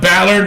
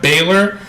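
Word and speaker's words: Bálor: spent batter but then his pronounced Balor not Baylor but Vince is still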